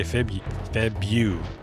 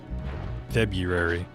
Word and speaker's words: February: That's why even though I know it's BRU, I say Feb Febu. February. Just sounds so weird when you say it right.